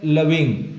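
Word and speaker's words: loving: Next है लविंग। ये खा के बाद वाला गा नहीं है, घा के बाद वाला अंगा है प्रोनाउंसिएशन इसका।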